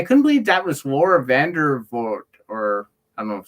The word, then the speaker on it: Vandervoort: though, and I couldn't believe that was Laura Vandervoort, or I don't know if that's how you say her name. Vandervoort, yeah.